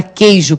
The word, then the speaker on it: queijo: Então, na palavra queijo, por exemplo, o U tem som? Não, né? Não tem. Você não fala queijo.